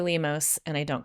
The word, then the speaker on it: Lemos: Lemos. I think of like lemon for the front part.